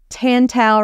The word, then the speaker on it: Tantau: that the title is tantel rhymes with Wow because that's how I remind myself to say their name correctly and so much about